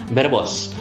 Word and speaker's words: verbos: ngomongnya bedanya itu ngomong huruf v itu seperti B contoh katanya misalkan biar Bos biar Bos verbos tulisannya barbos pakai v pakai UB pakai